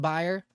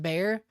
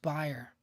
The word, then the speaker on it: Bayer: Did you guys know it's pronounced buyer? It looks like it's pronounced Bayer. It's actually pronounced buyer.